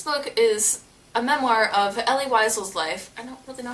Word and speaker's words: Elie Wiesel: This book is a memoir of Elie Wiesel's life. I don't really know how to pronounce his name, but I'm going to call him Elie Wiesel because I think that's right, but sorry if that's wrong.